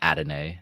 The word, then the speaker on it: Adonai: I keep saying Adonai Mitchell, and I figured out why. We have a friend named Adonis. So you're just throwing that, yeah. Yeah, so I should be saying Adonai, but yeah.